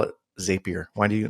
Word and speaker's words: Zapier: It's Zapier.